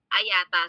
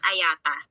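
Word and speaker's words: IATA: organization is the international air transport association or ayata so the the right pronunciation of this um acronym is Ayata ayata was established in 1945 by 57 international airlines by 2020.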